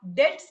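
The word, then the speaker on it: debt: की कोशिश करूंगी पहला डेट्स के विषय डेट मतलब आई होप आप समझ रहे डी ई बीटी जिसको बी साइलेंट होता है डेट्स जो है वो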